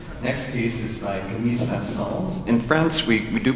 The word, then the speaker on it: Saint-Saëns: Anyway, don't forget to pronounce the S when you say his name.